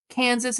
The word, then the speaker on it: Kansas: It's just I'm very passionate about this because, Kansas is pronounced Kansas because it is the English version of the Native American word, whereas Arkansas is the French pronunciation.